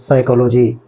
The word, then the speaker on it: psychology: Word है जिसको हम साइकोलॉजी का नाम देते हैं। अगर इसको हिज्जों में पढ़ें तो PSY साई कोलो CHOLO कोलो GYG साइकोलॉजी। इसमें याद रखिएगा कि P साइलेंट है, सेकंड है, साइकोलॉजी।